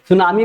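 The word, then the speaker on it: tsunami: ध्यान दीजिएगा T silent है यहां पे। सुनामी में टी साइलेंट है।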